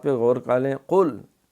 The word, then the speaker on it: قل: پہ غور کر لیں۔ قل، یہ قاف کڑاکے کے ساتھ حلق سے نکلے گا، ابھی ہم نے